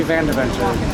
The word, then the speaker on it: Van Deventer: you what's yours deputy van deventer what's yours how do you what's yours how do you say your last name just like it's spelled oh you're here vain